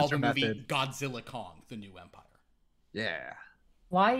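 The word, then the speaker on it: Godzilla x Kong: The X is silent. It's just Godzilla Kong.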